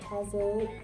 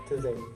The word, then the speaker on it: Taizé: So next Friday we have Taizé. It's not Taizé. Yeah. How do you say it? Taizé. Taizé. Yeah, Okay. people say it all different ways.